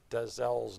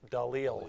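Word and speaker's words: Dalziel: jackson put a comment we're all saying desell's name wrong it's oh i had a feeling he said this is dalil he's a scottish guy so the z is silent the leo yeah thanks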